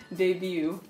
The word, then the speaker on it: début: on dit début.